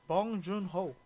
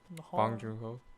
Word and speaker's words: Bong Joon-ho: Anyway, my number 1 directing, my favorite, I would say, is Parasite, Bong Joon-ho. Is that how you say it? Bong Joon-ho.